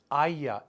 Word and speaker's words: haya: It's haya, H-A-Y-A. It's just like vaya, but with an H. Haya. Remember, H is silent.